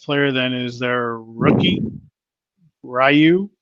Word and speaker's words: Rui: So I'm assuming their second best player then is their rookie, Ryu. Right? Isn't that how you say his name? Rui? Rui.